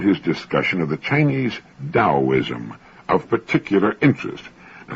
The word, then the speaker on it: Taoism: I found his discussion of the Chinese Taoism of particular interest. Now, that's spelled Taoism and often mispronounced Taoism. Taoism.